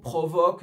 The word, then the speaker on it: provoke: Provoke, c'est un verbe. L'accent tonique, il va être sur la deuxième partie du verbe.